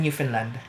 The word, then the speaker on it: Newfoundland: you doing in Finland I am pronouncing it right it's because of the Scottish descent It's Finn not found and that's due to the accent if you look at